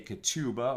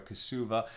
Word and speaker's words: ketubah: You can certainly establish a ketubah or a kesuva in Ashkenazi pronunciation in higher amounts.